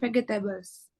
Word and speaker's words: vegetables: Vegetables, tulisannya vegetables, tapi bacanya bukan vegetables. Vegetables. Ya, kayak soundnya tuh J gitu ya.